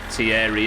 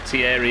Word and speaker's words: Thierry: There was an active push on telly to stop pronouncing him Tierry Henry and everyone was like, "Oh, we're going to change it now. We're going to pronounce it like he pronounces it." For like 3 years it was Tierry Henry. At least they didn't call him Terry Henry, but it was close. It seems mental now to call him that.